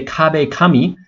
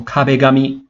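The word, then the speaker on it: 壁紙: but we have to be careful with the pronunciation so we don't say cob a commie the cop becomes got right so cob a gummy means wallpaper like on your wall and one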